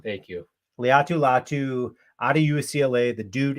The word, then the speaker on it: Laiatu Latu: Laiatu Latu. Thank you. Laiatu Latu out of UCLA.